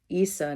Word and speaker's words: Isa: concent concentrating her power Issa not only sounds like the word ice it also so ice